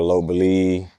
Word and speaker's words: Lopburi: As far as living long-term in say I lived in Lopburi, Thailand, but I pronounce it Lop Buri cuz you just get used to saying it how they are.